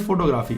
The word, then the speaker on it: photography: We call it photography.